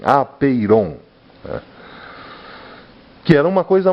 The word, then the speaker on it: apeiron: Ele deu o nome de apeiron, vamos dizer assim, pronunciar assim, apeiron, né?